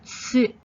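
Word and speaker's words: つ: It's spelled T-S-U. Different to su for sumo wrestler. This one is tsu with a T at the start. Tricky.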